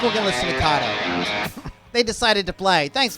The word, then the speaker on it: KAATO: it's spelled KAATO, not Kato. KAATO. You say Kato, I say KAATO. Actually, it's actually KAATO. I'll be saying KAATO because it's like KAATO. the Ka snake.